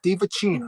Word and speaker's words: Divacino: Just to confirm, Divacino said that's the correct pronunciation. Think Italian. Divacino.